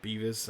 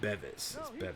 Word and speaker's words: Bevis: episodes ago I think I call him Beavis I think I've cracked myself in the last previous episode but as they pronounce it Bevis so let's not be